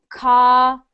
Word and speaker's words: caution: But, well, although you see the U there, you do not pronounce the U. Pretend the U is not there.